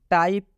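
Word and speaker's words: type: टाइप, टाइप में भी ई अंत में आया है इसलिए ई का उच्चारण नहीं होगा।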